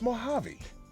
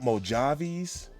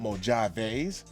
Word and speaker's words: Mojave: And speaking of Mojave Desert, it's Mojave. Not Mojaveis, not Mojave, but Mojave. And it's just like Django. The D is silent, but she won't be.